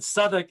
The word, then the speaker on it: Southwark: southwark a r s-o-u-t-h-w-a-r-k again the w is not pronounced i mean one of